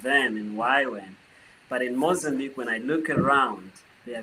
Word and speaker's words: Mozambique: Like, what are some of your visions, maybe for Mozambicans? Is that how you say it? Mozambicans in missions. Mozambique, but you can say Mozambique.